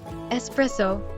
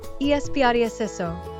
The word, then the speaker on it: espresso: Espresso is also commonly mispronounced. It's pronounced espresso, not espresso.